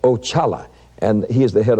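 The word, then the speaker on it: Oxala: spelled o x a l a and it's pronounced oala and he is the head of all spirits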